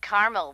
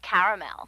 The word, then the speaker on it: caramel: that's what i said tina actually you said caramel when it's pronounced caramel can't we just call